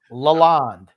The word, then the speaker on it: Lalonde: How do you pronounce his last name again? One more time. Fester. First name Uncle, last name Fester. Lalonde.